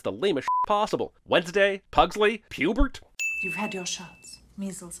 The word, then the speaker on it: Pubert: child could live with pubert pubert's a funny name it rhymes with cubert at least i think